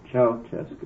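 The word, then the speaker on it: Ceaușescu: Ceausescu, is that how you pronounce it? Nicolae Ceausescu. Ceausescu.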